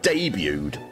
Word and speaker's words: debuted: Could they not say, hey, by the way, it's pronounced debuted? I know you wanted to make your international debut, but it's time for you to get D-Butt out of here.